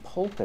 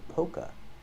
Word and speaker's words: polka: these are polka dots with this word the L is silent in both of those words the L is silent we do not say poka dots we say Poca POC dots these are